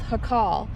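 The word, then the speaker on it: Jacal: were passing by and it's called luna's it's pronounced hakal and this is uh gilberto luna and he raised a family in this um homestead uh until 1947.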